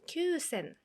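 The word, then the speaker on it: 九千: 9천은 큐센, 큐센, 큐센.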